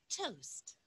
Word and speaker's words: toast: Yeah, las T en inglés bien marcadas. Yeah. Toast. La T al final, you have to pronounce it well. Toast. Yeah, hay una A escrita ahí, pero la A se cambia por una U.